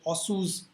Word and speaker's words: Otsu: something what is called otsu's algorithm otsu's algorithm we are not keeping when you pronounce also sometimes t is silent or some people call it osu's algorithm we are not keeping